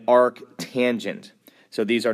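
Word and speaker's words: arctangent: The way these are pronounced are arc s arc cosine all one word and arc tangent.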